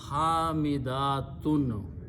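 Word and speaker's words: حامدات: So in the plural, the word is pronounced hamidatun.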